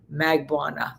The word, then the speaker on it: Magbuana: with Katie Magbuana, and I'm pronouncing it the Michael Bryant way, because that's the way it's being pronounced in the Philippines, because it's relating to a province and all, even though she now more Americanizes it.